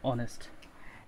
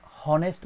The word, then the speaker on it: honest: কিন্তু আমরা কখনো এই শব্দটাকে হনেস্ট বলি না। অর্থাৎ এই শব্দের শুরুতে যে এইচ আছে, এই এইচ কিন্তু সাইলেন্ট ওয়ার্ড, এই এইচ কিন্তু কখনো উচ্চারিত হয় না।